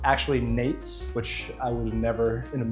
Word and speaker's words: Nejc: Starting off with, I've recently found out how to pronounce this guy's name. It's actually Nejc. It's not. Also, there's a crazy guy screaming outside. Oh shit. That guy's yelling. All right, anyway, it's actually Nejc, which I would have never in a million